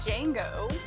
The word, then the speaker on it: Django: His name is actually Django. Yeah. Didn't know. I did know that. I just forgot. Is the D silent? The D is silent.